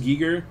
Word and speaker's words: Giger: Is it Giger or Geiger? It's actually pronounced Giger. I always pronounced it Geiger for the longest time, but it is Giger.